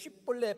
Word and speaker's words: 쉽볼렛: 그런데 에브라임 사람은 쉽 발음이 안 된다는 거예요. 그러니까 쉽 이렇게 발음한다는 거예요. 그러니까 쉽볼렛 발음이 안 되니까 너 발음 안 되네?